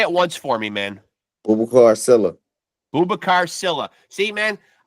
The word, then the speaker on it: Boubacar: BOUBACAR, Yeah, you can call me BOUBACAR if you know, or, or Booba, or. and you pronounce the last name again, how?